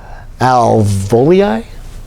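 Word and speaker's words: alveoli: a bunch of little air sacs uh oh alvoli that i pronounce yeah that's how you pronounce it you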